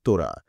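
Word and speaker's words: תורה: তাওরাত শব্দটি হিব্রু ভাষা থেকে এসেছে এবং এর উচ্চারণ তোরা।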